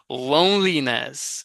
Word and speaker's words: loneliness: Eu quero ouvir esse I. Loneliness, a pronúncia aqui, né?